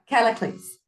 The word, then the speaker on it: Callicles: How do you pronounce that name again? Which one? Because there's the one that starts C. Cassilis, Callicles.